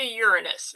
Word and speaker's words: Uranus: Okay, now let's get to Uranus.